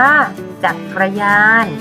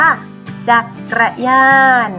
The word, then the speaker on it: จักรยาน: เดียว กัน นะ คะ อ่าน ว่า จักรยาน นะ คะ ชาติ สังเกตุ